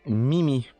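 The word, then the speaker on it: 耳: C'est Mimi.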